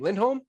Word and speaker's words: Lindholm: say your last name lindholm lindholm it's uh it's swedish yep awesome have you been